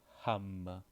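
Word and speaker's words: हम: This is ham. Yeah, it's ham, like the fruit ham. Ham. Like the meat, not the fruit, sorry. The meat.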